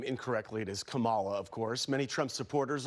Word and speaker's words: Kamala: Kamala. And now she wants to destroy our country. Of course, once again, pronouncing her name incorrectly, it is Kamala, of course.